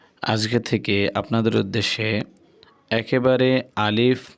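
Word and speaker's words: ألف: আরবি হরফ আলিফ যখন আপনি উচ্চারণ করবেন তখন দুটি জিনিস খেয়াল রাখতে হবে। এক হরফটি কোনভাবেই টানা যাবে না। দ্বিতীয়, হরফের শেষে মানে উচ্চারণের শেষে কখনোই দোনো ঠোঁট এক করা যাবে না।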